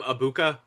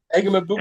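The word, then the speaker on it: Egbuka: I call him Ibuka. Isn't it E G B U K A? Yeah, but I think it's one of those where the G is silent.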